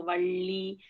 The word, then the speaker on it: valli: So I'll be like, no, valli, pronounce it, fold your tongue halfway through, and it has to touch up.